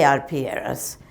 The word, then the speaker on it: arpilleras: places more like a Z, but I say Arpieras and and that's what they are.